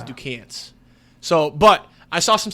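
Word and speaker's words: Duquesne: I could tell you cuz I say duzn people say Duan people say I think the correct way to say it is Duan so but I saw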